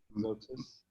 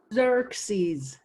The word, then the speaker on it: Xerxes: Zoxis. Say it again? Zoxis. Zuxis. Did I say it right? Yeah, almost. We'll do it again for me then. Zoxis. Xerxes.